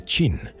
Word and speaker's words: Qin: Porque la palabra china viene de chin, que es como se pronuncia chin.